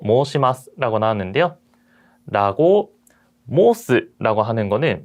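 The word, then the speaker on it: 申します: 이런 식으로 모으처럼 오의 발음이 들어가면은 실제로 발음을 할 때는 오오라고 장음으로, 즉 앞에 있는 이 소리를 끌어서 발음을 하는 경우가 많습니다. 그래서 모으시마스라고 읽는 것보다도 모시마스라고 하는 게 조금 더 자연스럽고요.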